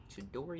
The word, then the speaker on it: Chidori: suggestion from Zach from Chords and Chaos for a local band where he's from in Atlanta called Chidori. I'm guessing that's how it's pronounced. Yeah, you're right. Chidori.